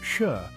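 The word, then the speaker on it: shi: nine are particularly notable the number four pronounced sure resembles the word for death leading to its widespread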